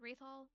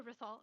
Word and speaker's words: Rithol: saw um Was it Rathol disappeared in there? Yes. Okay. Um, and am I saying the name right? Yeah, I say it like Oh, Rithol. Okay. Okay. Rithol. Okay.